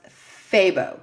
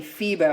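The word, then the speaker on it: FEBO: It's spelled F E Bo, but the guy at Yarn and Hook told me it's pronounced Fabbo cuz I I'm saying Fibo.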